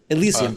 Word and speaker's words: Elysium: I can never pronounce it a lot. Elysium.